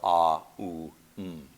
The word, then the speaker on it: Om: by a U sound, the combined sound ends up as an O. Okay? It's just the linguistic convention. It started about 1,200 years ago or so. Before that, the sound was not one syllable, but the three plus the silence at the end that we've chanted twice now. The A, U, M. And so I think you could correctly chant either way.